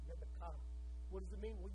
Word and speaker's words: Rebekah: How do you say her name in Hebrew? Rebekah.